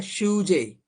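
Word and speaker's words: sujet: ठीक है, शूजे, T silent है इसमें ना।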